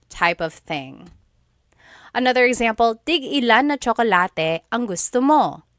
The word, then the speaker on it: tigilan: When there's no hyphen, tigilan, tigilan. It's just one word, tigilan.